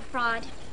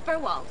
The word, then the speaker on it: Furwald: I don't have fraud. We have a Furwald. That's it, Furwald. Yes, but it's pronounced fraud. The E, the W, and the L are silent. And the A is pronounced aw.